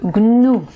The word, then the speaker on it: gnou: peu difficile à prononcer c'est le goût nous voilà donc l'animal africain le gnou un autre mot donc